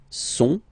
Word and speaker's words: sont: il, plural form, okay, ils sont, final T not pronounced, ils sont, elles sont, okay, ils sont, elles sont.